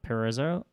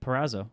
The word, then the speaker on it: Perazzo: be a submission from Joseph uh perezo wow really try again come on keep going perazzo perazzo how do you spell